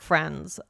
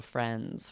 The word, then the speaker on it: friends: me, the D is the D is almost completely gone. Exactly. It's very minimized. We're not pronouncing it really really hard in the front of the mouth. It's back and softer. So, friends. Friends. And it just sort of becomes an NZ sound.